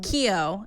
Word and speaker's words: Keough: Keough. It's just the G. Yeah, it's like spelled weird. Yeah, it's like Keough.